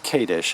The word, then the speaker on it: Kadesch: My name again is Kadish. It's spelled Kadesch, and my company Go Gated Realty.